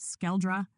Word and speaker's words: SKÆLDRA: Car birth name assigned pronounced skeldra meaning an echo vibration rooted in protonordic plus cytheran dialect fusion.